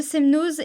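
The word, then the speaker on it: Semnoz: aillon et la margeria attention on ne prononce jamais le Z pour ne citer que je trouve que pour le coup il y en a pour tous les niveaux le semnose est la station de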